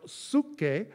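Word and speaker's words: ψυχή: minute is the word in the greek it's pronounced suke we call it psyche that's what's being described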